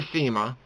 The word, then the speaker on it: SEMA: I mean, thank God for SEMA, which is spelled S-E-M-A. I know it sounds like I'm saying Cena. I mean SEMA, not the wrestler.